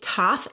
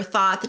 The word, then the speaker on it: Thoth: the thoth deck and sometimes this call is called the toth deck so i've heard it pronounced both ways i prefer thought just because it's the way it's spelled so when you compare the